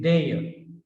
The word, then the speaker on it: there: We generally say there, but the ending r is not pronounced, so therefore it is there.